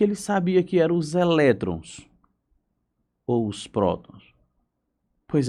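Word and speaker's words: ἤλεκτρον: que no grego antigo a palavra âmbar se pronuncia elétron com o no final eletron então dizer os efeitos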